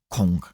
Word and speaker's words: kung: Donc kungfu c'est euh c'est deux termes et le terme con déjà qui se prononce normalement plutôt cong avec un G même en cantonné.